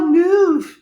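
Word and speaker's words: knoof: K-N-O-O-F, he replied. The K is silent.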